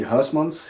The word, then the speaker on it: Huysmans: And it's Heismann's Guitars. Is that how Is that correct pronunciation? the last name is actually Hausmann's.